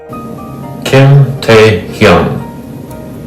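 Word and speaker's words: 김태형: And the third letter is Ng, N-G. So altogether it's Hyung. Hyung. Hyung. Hyung. Kim Tae-hyun.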